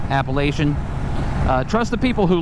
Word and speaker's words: Appalachian: the Appalachian Mountains and by the way it's Appalachian Mountains it's not Appalachian uh that's the correct pronunciation Appalachian uh trust the people who live there to